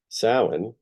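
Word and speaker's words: Samhain: that I'll be sharing throughout the coming year sin which is how this is pronounced was the final Harvest but also Mark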